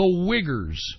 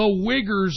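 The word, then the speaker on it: Uyghur: problem and guess what the wiggers I'm not even kidding that's how you pronounce the Chinese Muslims the wiggers have now become a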